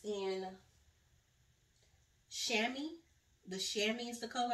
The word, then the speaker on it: chamois: And it's in chamois. The chamois is the color, I guess that's how you say it. I think that's how Silas told me to say it. Chamois, like cami.